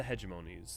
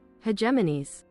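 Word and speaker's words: hegemonies: As the towns grew, so did the hedgeimmonies that oversaw the town until finally kingdoms were born. Sec. I want to double check I'm correct on the pronunciation of hedgeimonies. I know. Hedgemon. Hegemanes.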